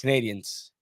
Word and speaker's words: Canadiens: How do you say Canadiens? Canadians. Exactly. That's what I've always said. Tony was always big on the Canadiens. And yes, that's the way you say it.